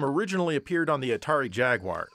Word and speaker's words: Jaguar: appeared on the Atari Jaguar sorry Jagwire I know a lot of Brits get triggered the way Americans say that word because I guess they